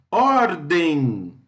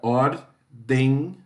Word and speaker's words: ordem: Ordem, den é a sílaba tônica. Ordem.